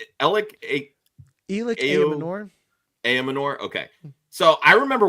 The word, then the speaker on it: Ayomanor: How do we pronounce his name? Elic Ayomanor.